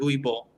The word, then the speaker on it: Uwe Boll: Uwe Boll. It's pronounced okay. believable. But whatever, dude. I'm sorry. That's how in German they pronounce it.